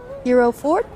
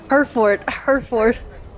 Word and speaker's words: Hereford: Hero Ford? Hereford.